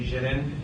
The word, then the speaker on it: J'den: call me that um he's actually spelled how it is in French um so it's supposed to be pronounced like Jen Jen instead of just Jaden so but uh